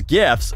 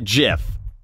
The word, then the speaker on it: GIF: the creator calls them the g stands for graphic soft g it's gif not jif it ain't a [